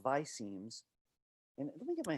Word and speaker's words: visemes: I've heard some people call it visceme. It's really hard to get an answer on how it's pronounced, which I think is kind of funny because it's really about the mouth shapes that match how we pronounce things. So it's funny that people are not sure how to say it, but I'm going to call them visemes.